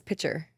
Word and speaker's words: picture: Also, how do you say Picture? Oh, she says pitcher.